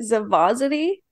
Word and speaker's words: Zavozity: And to make sure I'm saying it right, is it Zavosity? Yep, you got it right.